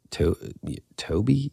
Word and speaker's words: Tobe: Oh my God, Toby Hooper. It's spelled T-O-B-E. Do you think it's Toby or Tobe? I mean, it has to be Toby, right?